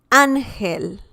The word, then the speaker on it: ángel: The next one, guys, is ángel.